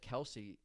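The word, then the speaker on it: Kelce: disgusted I I found out recently that that Kelsey the last name is actually supposed to be pronounced kelse really yeah I read that on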